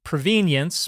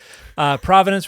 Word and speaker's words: provenance: Going to talk about the word provenance, which some people pronounce provenience, but I prefer to pronounce it provenance.